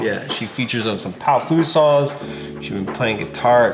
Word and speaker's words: Powfu: Powfu. Powfu. How it's spelled. A lot of people call me Pofu, but that's incorrect. Yeah. You gotta think of the old Batman shows.